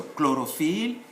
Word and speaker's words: chlorophylle: When CH is followed by a consonant, it is only pronounced as K. So chlorophylle, chrétien, and so on.